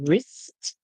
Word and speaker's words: wrist: This word is wrist. The R makes the sound, the W is silent, and then we hear a wrist.